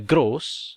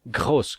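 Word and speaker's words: groß: Ada gross atau orang Jerman biasanya pelafalan R-nya kadang ada yang R yang di dalam. Saya lupa lagi itu namanya apa. Jadi ada yang gross. Bisa juga kalian sebutkan gross kalau bisa. Gross, R di dalam.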